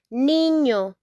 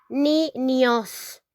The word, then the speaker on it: niño: Niño, niño. Sometimes you say niños. No, it's niño, niño, okay?